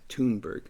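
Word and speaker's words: Thunberg: th U NB RG but I understand it's pronounced as tberg uh but Greta is the the 7 old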